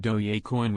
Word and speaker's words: Dogecoin: take over the world they called it dogecoin pronounced do ya coin with a soft g sound after the once popular